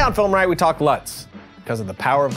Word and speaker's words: LUTs: I'm in, which are LUTs, which also rhymes with butts, LUTs with butts, which is coincidentally the name of the album I've been working on.